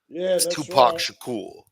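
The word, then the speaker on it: Tupac Shakur: They used to call Tupac sher sher, you know. Tupac shakool, you know, that's how you're supposed to say it.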